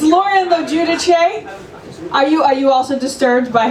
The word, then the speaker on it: Logiudice: Logiudice. That was so far from how you say my name. It's Lauren Logiudice.